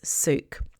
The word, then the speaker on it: souk: I later find out that the name of the market is or the Arabic word for a market is souk. It's pronounced s o uk.